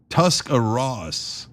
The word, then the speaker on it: Tuscarawas: It's Tuscarawas, just FYI. I'm so bad at pronouncing it even when you put the pronunciation.